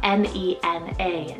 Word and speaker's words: Nena: Then for another four letter name here is Nena, spelled N-E-N-A, Nena.